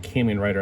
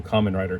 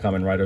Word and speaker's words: Kamen Rider: very much want you I used to pronounce it came in writer I think and then like the American show Kamen Rider came out uh Kamen